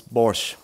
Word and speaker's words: Borsche: then what's your surname my surname is borscht borscht of how you say it in Germany and then they say like what again say it again it's like yeah you know it's like the sports car with the B so when you come